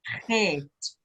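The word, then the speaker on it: חית: het. Okay. Shit. Het. No, Het. say the T.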